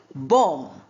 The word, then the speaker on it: bomb: Now see bomb. B O M B is not articulated. We say b or m.